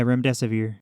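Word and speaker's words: remdesivir: of similar to uh was it ram desevere is that how it's pronounced yeah rem death severe okay it's an antiviral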